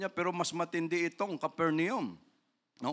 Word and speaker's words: Capernaum: naka ano sabi niya pero mas matindi itong caper neum no o capernaum y right pronunciation because of their unrepentant Hearts Jesus cursed